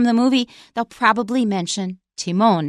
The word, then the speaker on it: Timon: little clip from the movie they'll probably mention Timone not timman so that's one thing I said there were